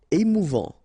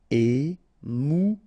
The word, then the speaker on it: émouvant: Émouvant. Final T not pronounced. A-N together. En. Émouvant.